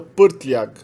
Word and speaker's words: prtljag: quanto no alfabeto cirílico, é o uso do R com uma vogal R. Então a gente tem, por exemplo, bagagem é pronunciado prtljag. A palavra topo, cume, é pronunciado vrh. E a palavra magro é pronunciado mršav. Meramente coloca-se o R e a gente já sabe que esse R é o núcleo da sílaba.